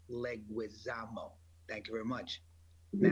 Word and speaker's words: Leguizamo: watching from outer space somewhere and it's still pronounced leguizamo thank you very much we don't talk about